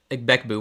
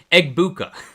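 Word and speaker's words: Egbuka: Egg Becku. Wow, now I'm saying it wrong. I keep hearing it the way Grank says it, so now I don't know how to say it anymore. Eggbuka.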